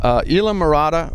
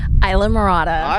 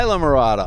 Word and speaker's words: Islamorada: holmes who's the area general manager for the ila murata resort collection or isla how do we pronounce that again isla murata isla murata i'm getting to learn all these these these